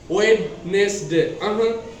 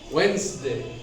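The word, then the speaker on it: Wednesday: ई डी एन ई एस डी ए वाई वेडनेसडे वेडनेसडे is wrong pronounce the correct pronounce will be वेडनेसडे वेडनेसडे here D is silent D will be silent of the times and the real pronounce will be वडसडे वड in this way doubt here B इज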